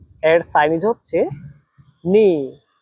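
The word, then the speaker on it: 你: আর তিন নাম্বার টনের উচ্চারণ নিয়ম হচ্ছে উপর থেকে নিচে আবার নিচ থেকে উপরে।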